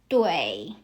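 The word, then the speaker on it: 对: word should pronounce as dway. So when you see the combination of u i think of it as way.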